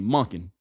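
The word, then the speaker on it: Monken: Todd Monin, aka Monin, cuz that's how you say it.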